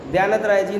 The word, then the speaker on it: द्यानतराय: ध्यानत राय जी ने बहुत सारे भजन लिखे हैं, उनमें से एक है अब हम अमर भय न मरेंगे।